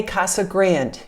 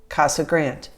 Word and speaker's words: Casa Grande: say casa grande no just grand the e is silent so if you want to talk like a local casa grande not grande grande is